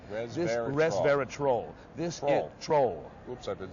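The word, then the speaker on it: resveratrol: that's how you know got to pronounce it right like a troll under the bridge res res verat troll this troll oops I've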